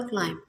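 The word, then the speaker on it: climb: for example क्लाइम, मैं word pronounce करती हैं क्लाइम, तो इसमें बी की जो साउंड है वो नहीं आ रही है, इसका मतलब बी जो हमारे पास है वो साइलेंट लेटर है और बी जो है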